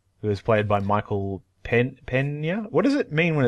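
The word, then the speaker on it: Peña: I think it turns it into an NY, as in El Nino. Oh, okay. Which is spelled N-I-N-O. Okay, so then his name is Michael Pena.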